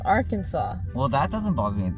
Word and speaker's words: Arkansas: like uh yeah i meant that for example arkansas how the f why does it look like arkansas you don't what i mean kansas is notes